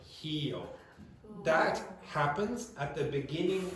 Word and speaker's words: Rio: The R at the beginning of syllables is pronounced like a H. So you're going to hear, so most of you, for that city in Brazil, you will pronounce it like Rio or whatever, etc. It will be a standard r sound, okay? But for Brazilians, they pronounce it like that. Okay, it sounds like heo.